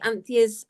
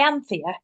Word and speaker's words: Anthea: Yeah, I think I'd have it as like almost 2 syllables.